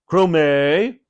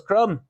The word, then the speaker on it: Crumb: invited to live with Miss Crum crume corrected mother oh said sir David I do apologize we checked the pronunciation with your husband and he said it was crumb mother went red with